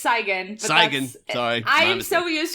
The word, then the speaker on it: Cygan: Cygan. Sorry, I am so used to people not pronouncing it right that I'm just like, at